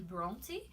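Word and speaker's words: Brontë: algum outro lugar e eu ouvi duas pronúncias meio que diferentes nos estados unidos eles falo meio que bronte e no reino unido um monte e mail blogs e dependendo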